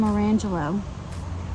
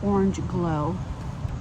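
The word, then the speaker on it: Orangeglo: first got these seeds I was calling them orangelo orangelo um I heard them pronounced correctly on another video it's orange glow orange glow um now because it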